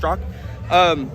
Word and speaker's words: Straka: It's pronounced Strzok.